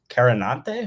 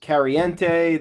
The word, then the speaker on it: Carannante: Oh, there's Kariente, there was Karanti, there, you know, I could I could go on for it would take up the whole podcast episode.